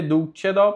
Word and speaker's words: dulcedo: Por que é dulcedo? Porque o C com E ele tem som de che.